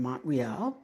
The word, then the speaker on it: Montreal: a sellout crowd in Montreal, which is how we pronounce it for those of us here in Quebec. Okay? You say Montreal, it's Montreal.